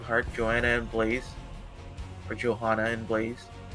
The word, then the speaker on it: Johanna: joanna and blaze for johanna and blaze i believe the technical how you say it in her language is rohana well i was gonna